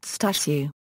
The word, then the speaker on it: Stashu: always referred to musal using the Polish nickname Stu pronounced stashu muil frequently played baseball